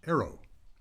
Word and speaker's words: AARO: A A O pronounced arrow.